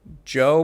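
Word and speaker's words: Djo: That's like his Joe, but the D is silent.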